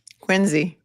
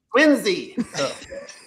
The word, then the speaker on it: Quincy: Quincy. Quincy.